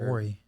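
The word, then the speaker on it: Vuori: then we went to Viore and we are Vori. Viore. Alex says However you Viore. pronounce that name. Someone tell us how to Tomato, pronounce tomato. Yeah. It's Viore. V-Ori.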